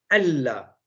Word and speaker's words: Allah: La signification de Ashhadu an la ilaha illallah, c'est bien, an la ilaha illallah, voilà, ça se prononce normalement Allah.